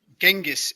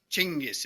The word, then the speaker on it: Genghis: Genghis it is not, I'm afraid. Genghis is the way the Mongols pronounce it.